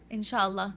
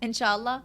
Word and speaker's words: Inshallah: Inshallah. That's what we say in Arabic. Inshallah. How do you say it? Inshallah.